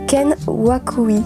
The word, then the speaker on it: Ken Wakui: vidéo il s'agit de tokyo revenge art de kent waku ici je prononce bien au tout début de l'histoire on